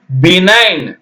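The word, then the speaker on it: benign: பார்க்கலாம் இதை எப்படி சொல்லணும் பினைன் என்ன சொல்லணும் பினைன் பி நை இன் ஜி விட்டுரனுங்க ஜி க்கு ஒளி இல்லை அடுத்தது ஃபாரின் பாருங்க ஃபாரின்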